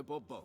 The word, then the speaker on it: Bourbeau: I expect you to address me as Sir, or better yet, as Monsieur de Bourbeau. Excuse me? Fine. Monsieur de Bourbeau. The emphasis falls on the last syllable.